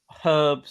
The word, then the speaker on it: herbs: can get all these herbs spices whatever floats your boat there it's a silent h Adam come on I'm